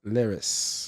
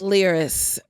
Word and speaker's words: Liris: You see, your name is pronounced Liris. Liris. So I always say here like Lear. I mean, Lear like here, or like Lear like a Lear jet, and wrist like the wrist on your arm, but no T.